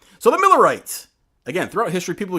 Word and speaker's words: Mueller: mue which was Mueller I thought it was Mueller they called a Miller it was always how it's pronounced why was it pronounced